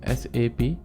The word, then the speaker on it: SAP: based on Germany and we would need to pronounce s ap not SAP so if you if you're calling